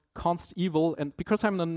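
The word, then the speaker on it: consteval: pronounce it right because it's not evil as in something bad it's evil as in evaluated at compile time it's guaranteed in comparison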